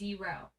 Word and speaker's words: gyro: The correct pronunciation of the sandwich gyro is euro. It rhymes with Euro? the Y sound.